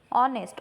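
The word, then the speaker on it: honest: त्यामुळे यज करतो आपण ऑनेस्ट ऑनेस्ट मध्ये एच हा कॉन्सोनंट वर्ड आहे पण याचा प्रोनन्सिएशन अनन पासून स्टार्ट होत ऑरेंज ऑरेंज हे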